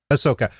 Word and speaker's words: Ahsoka: Is Ahsoka, or how do you pronounce it, Chris? Ahsoka.